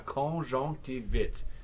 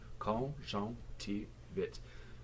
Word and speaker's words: conjonctivite: La conjonctivite. Quatre syllables, four syllables. Conjonctivite.